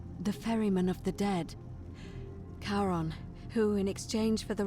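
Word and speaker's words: Charon: As in Karon, the fairyman of the dead. Kaon, who in exchange for the right coin, helps the souls of the newly deceased cross the sticks.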